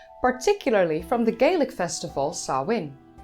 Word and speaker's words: Samhain: from the Gaelic festival Sahwin. Sahwin is written as Samhain, but it's pronounced as Sahwin.